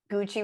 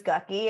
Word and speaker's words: Gucci: Like, would you think Gucci was Gucky if you didn't know?